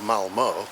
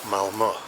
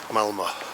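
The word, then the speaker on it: Malmö: But actually the city is not pronounced Malmo, because that O on the end has got 2 dots on it. It's actually pronounced Malmo. Malmo.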